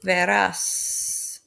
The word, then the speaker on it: verás: Tu verás, it's accent on the A.